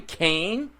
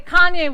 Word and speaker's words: Kanye: Did you say Kane? Isn't that how you say his name? Have you been... You're fired. Okay, Kanye West.